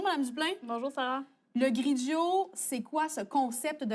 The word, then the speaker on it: Grigio: sommes au Grigio, qui se prononce comme Pinot Grigio.